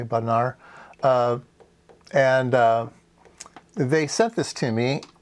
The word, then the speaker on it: Bodnar: Bodnar, gotta get it pronounced correctly, Bodnar.